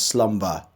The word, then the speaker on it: slumber: is voiceless the silence but in slumber the B is voiced the next word we